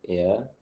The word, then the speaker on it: heir: Both words are pronounced alike. Air.